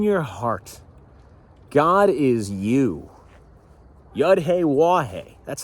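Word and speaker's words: Yahweh: Yahhe, that's how you say his name.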